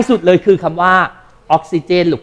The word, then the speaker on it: ออกซิเจน: มาก นะ แล้ว ก็ มี คน ออก เสียง ผิด นะ ตัว G เป็น ย ยักษ์ ก็ เลย กลาย เป็น ออกซิเยน อ่า แล้ว มี อีก